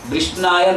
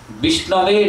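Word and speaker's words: विष्णवे: Who is ignorant about Sanskrit, he will say Vishnaya Namah. But Vishnaya Namah according to Sanskrit grammar incorrect. What is correct pronunciation? Vishnave Namah, like Gurave Namah.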